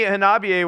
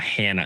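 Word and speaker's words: Hanabie.: But anyways, they told me Hanabiye was right during the interview, so I was like, okay, Hanabiye. That's why I say it like that. I don't think Hannah is right. Hanabiye. No, it's not Hannah.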